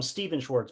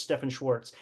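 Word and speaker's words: Stephan Schwartz: is stepan Schwarz I used to call him Steven Schwarz but the correct pronunciation is Stephan Schwarz and he basically um has studied a lot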